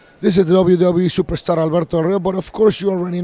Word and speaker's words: Alberto Del Rio: Well, but you got to do it like Ricardo used to do it. You need to roll your R's, Alberto Del Rio.